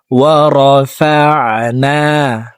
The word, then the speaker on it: وَرَفَعْنَا: ওয়াইয আখাযনা ওয়াইয আখাযনা ওয়াইয ওয়াইয আখায আখাযনা আখাযনা وَإِذْ أَخَذْنَا وَإِذْ أَخَذْنَا مِيثَاقَكُمْ مِيثَاقَكُمْ وَإِذْ أَخَذْنَا مِيثَاقَكُمْ ওয়ারাফা'না, আইনকে হলকের মধ্যখান থেকে উচ্চারণ করব।